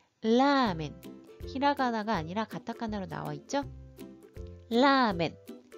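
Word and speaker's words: ラーメン: 라멘. 히라가나 발음으로 여러분들이 조금 발음하기 쉽게 써보면 라멘 장음으로 들어갑니다.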